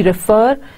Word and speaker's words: refer: reference are different now you see refer by putting more accentuated stress on the first sound in the middle but you say reference while putting more stress on this initial sound and that of course gives that accentuated touch to it so you can